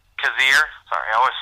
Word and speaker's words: Cazier: me works but like the name is cave cazier sorry I always say the name wrong beat obviously be la ke and